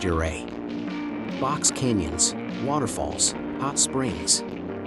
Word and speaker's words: Ouray: its nickname Little Switzerland less easy saying your a correctly if you want to score points with the locals you'll learn that it's correctly pronounced your a box canyons waterfalls hot